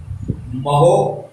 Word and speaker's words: mho: ये जो ये है, इसको मैं 2 बार महो बोला। क्यों बोला? इसका कारण देखें आप। इसकी स्पेलिंग, ओम की स्पेलिंग थी OHM। जब इनवर्स लग जाता है तो उसी को उल्टा कर देंगे, MHO, तो वो क्या हो जाएगा? महो।